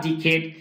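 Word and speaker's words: decade: for more then A ডিকেড এক দশকের বেশি সময় ধরে ডিকেড মানে সরি ডেকেড উচ্চারণটা হবে আমেরিকান প্রোনাউন্সিয়েশন ডেকেড এখানে উচ্চারণ হবে মোর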